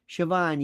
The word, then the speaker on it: Siobhan: Siobhan, yes. Thank you for the correct pronunciation.